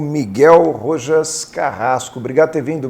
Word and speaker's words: Rojas: rochas são muito tempo que o certo é rorras é isso muito lá tô bom hein Tá